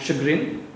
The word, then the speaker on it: chagrin: Toastmaster Abhilasha, you used 2 words which I really like, closeted and chagrin. Again, the pronunciation, even I was a little confused, so I checked on my app. Chagrin instead of chagrin.